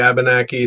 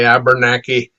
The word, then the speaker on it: Abenaki: Some say Abenaki, some say Abenaki, and some say Abernaki, and some say Abnaki. So it's all potato. It's all the same.